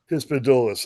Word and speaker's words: hispidulus: I think it's Hispidulus. Hispidulus. Okay, yeah, I thought I might have been missing a couple of syllables there.